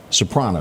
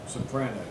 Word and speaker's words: Sopranos: Soprano. Is that Is that how you say it? Sopranos.